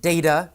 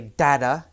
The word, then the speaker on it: data: Some people pronounce it data, some people say data. Either is correct.